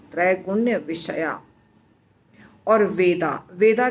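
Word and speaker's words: त्रैगुण्यविषया: त्रैगुण्य तीन गुण, विषया, तो इस दोनों शब्द को इकट्ठा बोलेंगे तो भी अलग बोलेंगे तो भी उच्चारण सेम होगा। त्रैगुण्य विषया।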